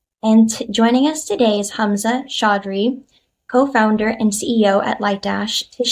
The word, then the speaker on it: Hamzah Chaudhary: And joining us today is Hamzah Chaudhary, co-founder and CEO at Lightdash, to share the story behind the product and what is next for BI in a dbt-powered world.